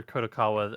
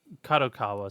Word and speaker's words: Kadokawa: are a couple things that are also under kakawa or uh kadokawa sorry I'm mispronouncing that that I didn't actually realize were